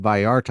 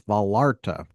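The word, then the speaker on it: Vallarta: They said Viarta. I said, "How's it spelled?" They said, you know, two L's. And I said, those are L's. It's Balarta.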